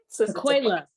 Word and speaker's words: Tequella: Tequella.